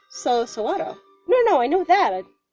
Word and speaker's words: saguaro: people mispronounce it as saguaro but it's a mexican word so sawado no no i know